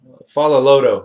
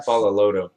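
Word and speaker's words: Faaloloto: fighting he's taking on edward follow lodo that's how you pronounce that yeah follow lodo yeah uh terry adam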